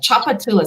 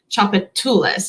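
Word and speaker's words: Tchoupitoulas: chocolates in there but choppatilla so the tch just makes the sound sound chocolatulas and so they tend to put that emphasis emphasis kind of in the weird part of the word like a chuffalaya nakadish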